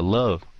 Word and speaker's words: love: Đừng có đóng cái môi lại sau khi phát âm cái chữ đó. Nếu các bạn đóng môi lại là các bạn không có là thất bại rồi đó, phát âm cái chữ đó thất bại rồi đó. Okay. Yes, love. Mà đừng phát âm V ra nữa, đừng có V nữa.